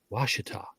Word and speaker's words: Ouachita: Arkansas and you know the French Pioneers um that became the hillbillies the first ones knew how to speak French and the second ones knew how to pronounce it so right you you have you have the Ouachita River up in Northwest Arkansas which you know is the o-u-c-h-i-t-a Ouachita and as you get